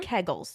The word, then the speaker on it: kegels: here to talk about pelvic floor health and kegels yes that is how you pronounce it we'll get into that don't at